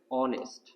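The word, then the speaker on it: honest: ব্যবহার করব এ কিন্তু এইখানে উচ্চারণটা হয়েছে হচ্ছে অনেস্ট এইচ এর উচ্চারণটা না হওয়ায় উচ্চারিত হয়েছে ভাওয়েল সাউন্ড ভাওয়েল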